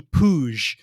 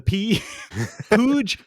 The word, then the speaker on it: Puig: Midfield play of Ricky puj which I believe that's how you say it it's spelled like Puig but I think it's splooge with a pooj is a 23 year